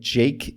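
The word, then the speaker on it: JVKE: you search for it, by Jake is the song of the week, and Jake is spelled J-V-K-E in all caps.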